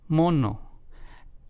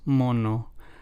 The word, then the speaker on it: mono: in the following example the two words in Spanish mono versus mono let's hear those two again mono versus mono the first one translates to bun in English while the second one translates to Monkey in English so as you can